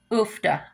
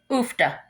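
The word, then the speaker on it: uff da: till every place I go, I hear this oofda, oofda. It is spelled UFF hyphen DA.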